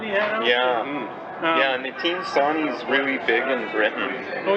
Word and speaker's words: Nitin Sawhney: You've got the one by Nitin Sawhney, is that how you pronounce that? Oh yeah, Nitin Sawhney.